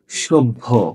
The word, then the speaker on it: সভ্য: দুইবার হলো না কেন এই যে ভ একটা মহাপ্রাণ ধ্বনি ভ যেহেতু মহাপ্রাণ ধ্বনি এজন্য ওর আগে যে অল্পপ্রাণ ব আছে সেই বটা উচ্চারিত হয়ে গেছে ঠিক আছে তাহলে এটা